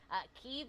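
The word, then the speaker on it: Kyiv: confused about that pronunciation keeve is the way that the ukrainians say their capital city kiev is the russian pronunciation so technically both are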